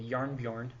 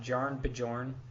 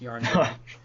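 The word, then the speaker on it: Jarnbjorn: that says Unworthy Thor starts the game with Yarnbjorn equipped. By the way, that's how you pronounce that if you couldn't figure it out. It's not Jarn Bjorn. It's Yarnbjorn.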